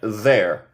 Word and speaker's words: they're: Se pronuncia there.